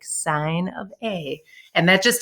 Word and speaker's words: sine: sine cosine and tangent i know it looks like sin but it's an abbreviation so it's sine so make sure that that's how you're pronouncing it sine cosine and tangent